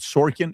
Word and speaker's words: Sorkin: making point after point after point with this interview with with is it Sorkin Aaron Sorkin am I saying it correctly? Andrew Ross Sorkin Ross Sorkin.